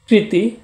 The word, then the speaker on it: কৃতী: হচ্ছে সম্পাদিত কর্ম চেষ্টা সাধনা ইত্যাদি আরেকটা হচ্ছে কৃতি একই উচ্চারণ কিন্তু এটা দীর্ঘায়িকা থাকার কারণে এর অর্থের